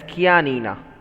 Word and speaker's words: Chianina: So this is pronounced as Chianina. This is a type of cow, Chianina.